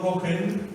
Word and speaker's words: Cohen: Hay un psicólogo de apellido Cohen, se escribe C-O-H-E-N, me parece que es Richard, pero el apellido sí estoy seguro, C-O-H-E-N, Cohen.